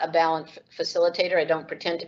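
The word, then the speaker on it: Balint: other question that came up is about the balance system let me spell that for you it's b-a-l-i-n-t balance is a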